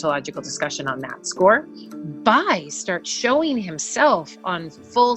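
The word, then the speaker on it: Bay: the addition of a random strange man named by the a wife so it looks like BAE but it you pronounce it by okay who is a Chancellor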